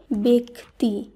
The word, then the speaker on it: ব্যক্তি: এরপর যে শব্দটি রয়েছে বয়জফলা কয়তয় রস্যি, শব্দটিকে অনেকেই ব্যক্তি বলে থাকে, কিন্তু এটি ভুল উচ্চারিত শব্দ। এর শুদ্ধ উচ্চারণ হবে ব্যক্তি। ব্যক্তি।